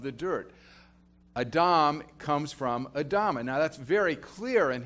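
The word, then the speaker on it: אדמה: Adam is made out of the dust, made out of the ground, which is pronounced Adama. So it's, the human being is derivative of the dirt. Adam comes from Adama.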